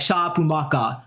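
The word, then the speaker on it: シャープマーカー: His tag even sounds like because like splash in Japanese is sharp marker, which is said like shapumaka.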